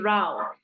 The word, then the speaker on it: row: Because this word here is not row. आपको लग रहा होगा कि row है. It is not row. There's another pronunciation to this word which is row.